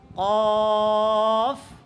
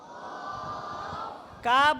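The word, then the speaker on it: قاف: কফ। কাপ বলবে না, কেমন? কি বলতে হবে? এটা মোটা। এটা কাপ বললে পাতলা হয়ে যাবে, আর এটা হচ্ছে মোটা উচ্চারণ।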